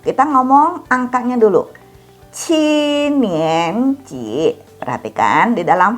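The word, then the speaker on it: 七: Kalau 7 harus keluar udara. Ci, jangan dibaca ci.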